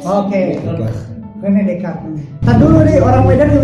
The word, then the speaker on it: Descartes: Dan S di akhir kalimat dalam bahasa Prancis itu gak dibaca.